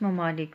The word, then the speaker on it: ممالک: لفظ ہے ہمارے پاس ممالک، میم پہ پیش، میم زبر الف ما، لام کے نیچے زیر اور کاف پہ جزم، ممالک لفظ بنا۔ تعلق ہے ہمارے